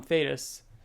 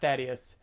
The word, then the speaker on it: Thetis: Then the final 2 pages is Alan receiving a letter from Thetis. Of course, after learning that after Kirkman tells us that it's pronounced Thetis and not Thaddeus, we have to read